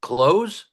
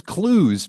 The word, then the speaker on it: Clowes: Close? It's clues for some reason. Clues. Clues. It looks like clothes, but it's clues.